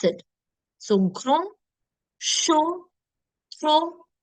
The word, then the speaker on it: grand: So when your D, P, T, S, and even X are at the end of the word, don't pronounce it. It's silent. So grand, chaud, fro, petit, frais.